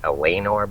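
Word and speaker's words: Eleanor: to me Ela Elanor I think she pronounces it Elenor but I'm used to saying Elanor she's a cute hot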